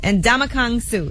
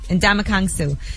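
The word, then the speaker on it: Ndamukong Suh: sports athlete Detroit L Detroit Lions defensive tackle and damak Kong Su is that how you say his name yes and damak kangu so they're going to be representing him he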